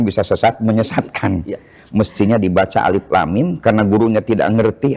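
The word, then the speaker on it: الم: Mestinya dibaca alif lam mim karena gurunya tidak ngerti dibaca alif lam mim malah dibacanya alama. Betul.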